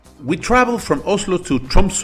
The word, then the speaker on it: Tromsø: travel from Oslo to Trump's or tumblr as the new regions pronounce it and we didn't know